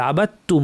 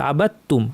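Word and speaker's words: عَبَدتُّم: উপর সুকুন দেওয়া আছে কেউ ভাবতে পারে যে কলকলা করব আবাম না এখানে তাহের উপর দে কাজে দাল উচ্চারণ হবে না বা গিয়ে সরাসরি তাকে ধবে আবাতুম পড়তে হবে যেন দালটা নাই এভাবে পড়তে হবে আবাতুম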